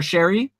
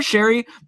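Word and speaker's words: Sheary: let me correct myself Conner Cherie as I apparently of learned his name is pronounced is Conner Sherri a snoozer at this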